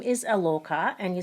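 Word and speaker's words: ElOrKah: She spells it as Lorca, L-O-R-K-I-A-H, which is actually pronounced as Elorca. Is there any significance with the triple-barreled names? Like your name is Alorca and you spell it capital E-L, capital O-R and capital K-A-H.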